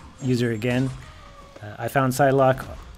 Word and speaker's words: Psylocke: I have a video on Psylocke if you want to check her out. In the video, I keep on pronouncing her name wrong.